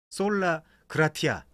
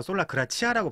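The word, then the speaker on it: sola gratia: 그래서 개혁교회에서 개혁주의 그 교리를 만들 때 오직 은혜다 라는 그 명문을 솔라 그라티아, 발음하겠다 솔라 그라치아라고 발음해도 돼요.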